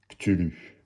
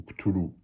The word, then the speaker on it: Cthulhu: Cthulhu. Ou Cthulhu. Choisissez votre prononciation.